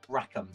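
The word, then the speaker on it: Rackham: Martin that's right uh how do you say your last name rackam rackam rack rack of ham like a a rack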